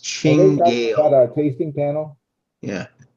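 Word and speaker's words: Cinghiale: You are now at the home of this Singhale, pronounced Chingale.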